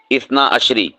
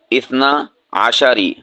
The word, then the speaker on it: اثنا عشری: ہیں وہ ہوتی ہے اثنا عشری، اثنا عشری، یعنی ہم شین کو جو ہے ساکن پڑھتے ہیں، یہ غلط ہے۔ صحیح کیا ہے؟ اثنا عشری، شین کے اوپر زبر